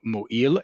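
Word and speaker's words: מועיל: who fast a tzom mo'il, a meaningful fast. Fast should not be easy, it should be meaningful. Mo'il with an ayin is how we say that in Hebrew, meaningful.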